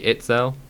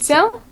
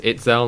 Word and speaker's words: Itzel: Isn't it meant to be Itzel? Not is. Istel? I think I'm pretty sure it's Itzel, not Istel.